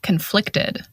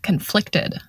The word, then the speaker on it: conflicted: conflict and the adjective conflicted we stress the first syllable in the noun conflict and we stress the second syllable in the adjective conflicted and we can also